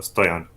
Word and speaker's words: Stoian: by uh mostly slavs but my name is actually i think the origin is slavic it's like bulgarian but you pronounce it uh stay on those sounds sounds a